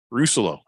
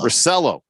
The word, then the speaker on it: Russello: Russello. Am I saying it right? No, it's no. Russello. Oh, see, it's the cello part that I was screwing up, Mhm. not the roux. The roux is fine.